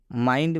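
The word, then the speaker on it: mind: भी दिया गया है यहां पर आई के बाद एन दिया है इसलिए आई का उच्चारण आई हुआ है लास्ट समझ लीजिए वाइंड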